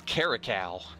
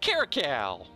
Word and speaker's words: caracal: mayor either via regal I'm pronouncing the C word wrong I mean dictionary calm that quick I guess it's caracal caracal all right so our caracals